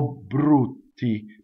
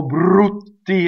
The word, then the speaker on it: brutti: O brutti. But don't do too much double B. And in fact, if you're in doubt, leave it out. O brutti is fine, right?